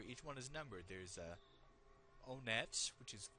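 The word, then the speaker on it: Onett: Now this place, I call it Onet. I've heard others pronounce it Onet, as in the number 1.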